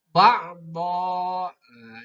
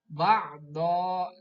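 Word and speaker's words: بَعْدًا: Do-nya berharkat tanwin patah, fathataini, namanya tanwin patah, maka membacanya jangan ba'don tapi ba'do karena berhenti, ada waqaf.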